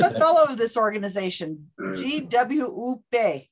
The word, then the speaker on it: GWUP: And I'm a fellow of this organization, GWUP is how they say it.